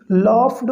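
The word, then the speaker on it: laughed: लॉफ्ड में GH silent है, ये ध्यान देना, देखिए ज़रूरी है।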